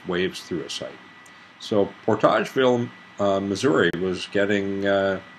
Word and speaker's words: Portageville: 12th as well portageville portageville is probably how it's pronounced there portage would be french but anyway we see